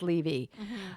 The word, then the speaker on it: Levy: the beginning if you don't like me it's pronounced leevy I think it's Levy anyway they were cute